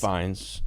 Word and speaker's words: Fiennes: Fiennes, and you don't pronounce CL.